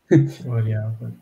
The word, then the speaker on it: variabel: no, it's just the same verb, just say it like a German.